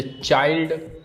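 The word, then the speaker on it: child: L sorry I एल टी इसको क्या पढ़ते हैं? आइल्ड जैसे चाइल्ड चिल्ड्रन माइल्ड और वाइल्ड।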